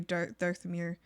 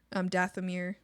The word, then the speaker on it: Dathomir: I feel like Ahsoka, I feel like Hag is very Darthamir. Dathomir. Darth is Dath.